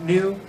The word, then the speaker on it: nu: The next one also looks nothing like it's pronounced. It's an N. It's a nu.